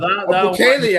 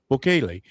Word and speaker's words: Bukele: Bukele, I believe. Bukele. See, I say it with a little Spanish accent. Bukele.